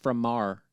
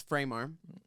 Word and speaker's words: Framar: Because I swear it was Framar. No, it's frame arm.